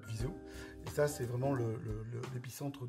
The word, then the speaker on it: Viseu: Ça s'écrit Viseu. Mais ça, Viseu.